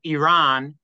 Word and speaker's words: Iran: is like so uh Iran is how you're supposed to pronounce it according to the journalists uh who are interviewing the um the American